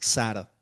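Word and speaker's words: שר: Príncipe en hebreo se escribe sar con s. En realidad no se escribe con letra en español, ¿no? Pero la transliteración, digamos, cuando lo queremos pronunciar en español es sar, ¿sí?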